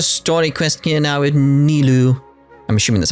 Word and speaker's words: Nilou: Nilou!